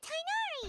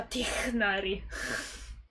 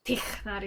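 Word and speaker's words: Tighnari: Perché ho visto dei video in cui dicono che è una parola araba. Quindi questa zona è ispirata al Medio Oriente e all'Egitto. E all'Africa. E tecnicamente si pronuncia Tignari. Con Tignari, una roba del genere.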